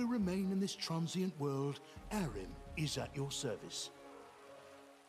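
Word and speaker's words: Harrim: in this transient world arim is at your service you really have to pronounce it like harem there's so many implications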